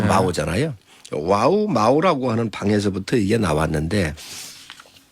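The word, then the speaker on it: 毛: 이제 중국 발음으로 마오잖아요.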